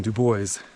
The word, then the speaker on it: Dubois: Dubois is the local pronunciation.